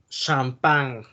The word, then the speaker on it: champagne: es la regla que si se encuentran estas letras al final de una palabra no se pronuncia así como en el caso de así champagne es traje y estã n suena como una ñ ok entonces y lae no se pronuncia porque es de la regla test entonces champagne no así con champagne ya la mentalidad y francés